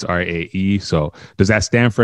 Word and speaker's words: R.A.E: like to introduce everybody straight from the uk ray ray what's going on hi i'm good funky it's actually pronounced r-a-e it's r-a okay so i meant to i